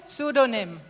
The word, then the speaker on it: pseudonym: Your word is pseudonym. Could you please repeat the word? Pseudonym. SUDONYM. Sorry, it has a silent P at the start, so it's a PSEUDONYM.